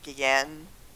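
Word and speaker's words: Guillén: Um, the character of Eli is played by Harvey Gueen, I believe is how you pronounce it.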